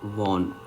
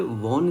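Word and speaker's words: wane: Looked again at हर वॉन। ये वॉन इसकी pronunciation है, बच्चे से वैन पढ़ देते हैं।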